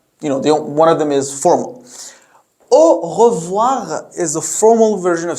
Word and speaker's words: au revoir: In spoken French, it is said really quickly, and then it would be heard like au revoir, au revoir, as if we've eaten this little E in the middle, or as it's pronounced.